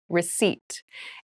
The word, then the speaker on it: receipt: meal room service meal receipt receipt receip receipt has a very interesting spelling there is a p in the spelling of this word but we do not pronounce it the pronunciation is receipt a receipt is a